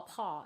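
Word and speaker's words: Faux Pas: paw faux space pas fa paw is how that's um pronounced and what i usually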